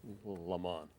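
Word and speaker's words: Lamon: a man named Layman, a number of ways to pronounce his name. And I looked into the family, and the family itself pronounces the name in different ways. I'll say Layman.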